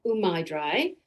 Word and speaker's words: Umai Dry: we ended up naming umaidri which umai in you know no connection with japan but umai in japanese means either skillful or tasty and so rhymes with dry sounds pretty good and